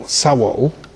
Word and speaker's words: sawol: also the word soul, which in Old Anglo-Saxon is spelled S-A-U-W-O-L, sawol, and their word for the body was a sawolhus, which I think is really a soul house.